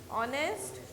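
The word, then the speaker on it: honest: एन ऑनेस्ट मैन। ऑनेस्ट में क्या होता है? एच साइलेंट रहता है और ओ से प्रोनाउंसिएशन शुरू होता है, ठीक है बेटा।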